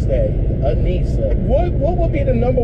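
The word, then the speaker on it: Anyssa: My name is Anissa, and my extension is going to be 0645. Anissa? Yeah. Oh, can you spell that?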